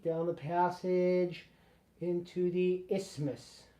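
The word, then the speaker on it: isthmus: Magnum albumin added clicky clicky clicky down the passage into the ismas. You don't really pronounce the th.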